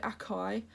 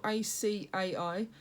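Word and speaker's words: açaí: Now before I used to call it acai, which is spelled A-C-A-I, and then I figured out the correct pronunciation for it is acai.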